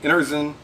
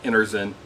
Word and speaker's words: Enerzen: going to review the energy ozone emitter I think I think it's actually pronounced Anderson yeah e-n-e-r-z-e-n so it's